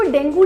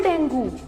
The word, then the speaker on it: dengue: इट was never डेंगू। The right way of saying it इज डेंगी। डेंगी इज the correct pronunciation. किसी को डेंगी हुआ है, लेकिन मैं कितनी बार भी बोलूँ ना उसे डेंगी हुआ है, चार और बोलते उसे डेंगू हुआ है। डेंगू गलत है, डेंगी सही है।